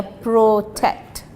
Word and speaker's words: protect: However, the dates which are designed to protect, pronunciation, yeah, protect. I must hear the t behind it.